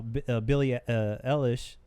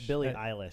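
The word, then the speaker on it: Billie Eilish: yeah ASA you know Billie Elish wait pronounce it right it's Billy a list I wish for like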